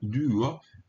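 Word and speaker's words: δύο: Omicron kai omicron kai omega, duo, esse y é pronunciado du. Você faz a boca como se fosse dizer um não, como se fosse dizer um u, e pronuncia um u.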